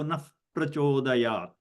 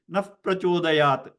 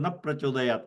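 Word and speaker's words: नः प्रचोदयात्: It will sound like okay, naf prachodayat, because visarga will change into a F sound.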